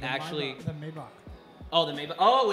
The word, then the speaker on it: Maybach: The Maybach.